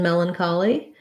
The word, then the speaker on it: melancholy: let's look at melancholy melon collie first syllable stress in melancholy it has the red tent vowel um so melon here's this a n says schwa or if melon the ch in melancholy says the k sound rather than the ch